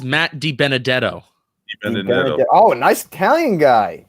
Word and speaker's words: DiBenedetto: It's Matt DiBenedetto.